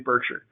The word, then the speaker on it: Berkshire: now by the way i'm going to use the nebraska pronunciation of this so berkshire is i'm